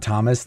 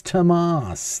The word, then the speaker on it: Tomas: Sweden I was like oh that's not Thomas that's Tomas thank you Tomas um